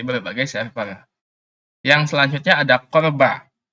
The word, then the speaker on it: CORBA: Yang selanjutnya ada Corba, bukan Cobra ya, Corba bacanya, yaitu Common Object Request